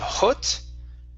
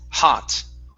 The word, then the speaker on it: hot: Let's go to the word hot. Instead of hut, it's hot.